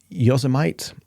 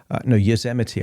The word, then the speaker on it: Yosemite: this hypnosis session is the, I think it's Yosemite, is a national park in the States. Yosemite, I think it's actually pronounced now I think about it.